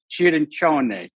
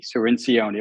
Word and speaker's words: Cirincione: In italiano, it's jiron, but here it's sinion. Serenion, like ministrone.